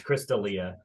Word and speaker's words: Chris D'Elia: It's Chris D'Elia. okay, Um. that's how you pronounce it.